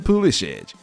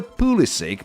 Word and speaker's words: Pulisic: of them all Christian foolishage his grandfather comes from Croatia that's where his lost name comes from however Christian prefers the pulisic pronunciation he was born in